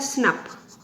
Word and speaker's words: snRNP: SNRP को हम लोग शॉर्ट फॉर्म में प्रोनाउंस कर सकते हैं बेटा स्नप, ठीक है, स्नप।